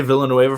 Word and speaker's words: Villanueva: alejandro i'm gonna say villanueva from now on y'all got mad at me for pronouncing it in the the spanish way um double l is why in spanish um i am bi-literate